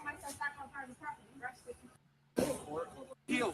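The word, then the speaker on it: Pihl: Peel, say it right, motherfucker. P-I-H-L. So his name's Peel.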